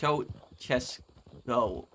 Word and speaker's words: Ceaușescu: It's pronounced Ceaușescu. Okay, Ceaușescu.